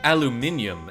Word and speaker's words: aluminium: All 7 pieces of aluminum, or aluminium, as the British say.